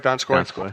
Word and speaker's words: Donskoy: Am I pronouncing it right, Donskoy?